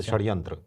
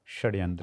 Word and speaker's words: षड्यंत्र: क्या बात है और षटकोण वाला जो स होता है सर उसका मिश्रित उच्चारण रहता है जैसे षड्यंत्र षड्यंत्र हां जैसे आधा श और आधा स हां हां इसको तालव्य